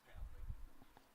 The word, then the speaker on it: Pavlik: And he goes, no, it's Pavlik.